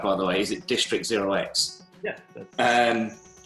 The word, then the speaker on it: District0x: Is it District0x?